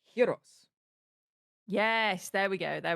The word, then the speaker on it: gyros: Yes, it's like the word heros. It's not gyro, it's Yes. heros.